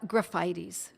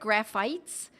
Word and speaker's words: Graphites: skin course is uh graphitis looks like graphites but I pronounce it graphitis I believe that's the correct pronunciation and graphitis has has